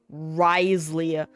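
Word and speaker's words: Wriothesley: hate I hate that his name is pronounced risely where does the OT h e go irregardless well I'm going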